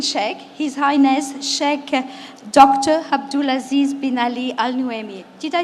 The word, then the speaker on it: Abdul Aziz bin Ali Al Nuaimi: Abdul Aziz bin Ali Al Nuaimi.